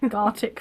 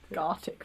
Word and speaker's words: Gartic: Gartic phone. You need I can't even say it yet. Gartic phone. G. It should rhyme with the Arctic.